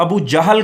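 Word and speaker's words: أبو جهل: बाज़ बच्चे उसको अबू जेहल भी पढ़ते हैं। तो बेटा जेहल ये रॉन्ग प्रोनाउंसिएशन है, अबू जाहल, ठीक है। तो ये जहालत से है, तो अबू जहल का जंगी लश्कर, इसको इस तरह आप प्रोनाउंस करेंगे।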